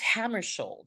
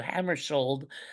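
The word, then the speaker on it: Hammarskjöld: So Hammarskjold, as if it's SH, so we all get it right.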